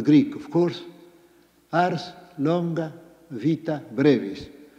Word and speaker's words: vita: We have that common Latin tag done from the Greek of course ars longa vita bravis or as I suppose you ought to pronounce it wita brais.